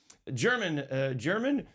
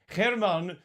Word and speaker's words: Germán: This week our guest is German Germán. I know it's spelled German. He's not German, and let's get that right out of the way.